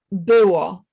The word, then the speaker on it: było: Yeah, so tyle było. Tyle biło. No, you're saying biło, and biło means beat, Okay.